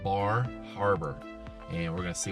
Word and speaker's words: Bar Harbor: So we're going to a place today called Bar Harbor, and we're going to see what that's all about. Some call it Bahava. I don't know.